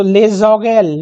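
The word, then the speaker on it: les oreilles: So le zogel le zogel it will be pronounced like that that is ears la font that is forehead.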